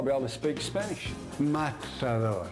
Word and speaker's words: matador: Matador. Pronounce the T. Matador.